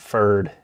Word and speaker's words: Pferd: founding band members of fir'd it's pronounced for no P it's German for horse you're looking at their